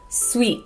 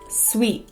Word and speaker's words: sweet: at the end but many Americans don't pronounce their T's at the end of words so we stop it in our throats and we say sweet sweet this chocolate is sweet